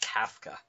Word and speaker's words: Kafka: Somehow managed to correct Adam that it was pronounced Kafka.